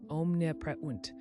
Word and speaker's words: omnipresent: Omnipresent, pronounced om-nih-PREZ-unt.